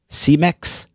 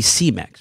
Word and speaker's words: Cemex: for the fence and submitting cemex as the culprit right you like that pronunciation you know it really should be c-mex right shouldn't it but anyway